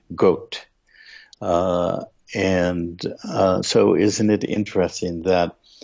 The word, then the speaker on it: Gott: That German word is spelled G-O-T-T, and it's pronounced in German Gott.